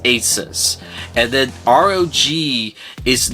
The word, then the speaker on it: Asus: Okay, asus is short for the latter part of the word Pegasus.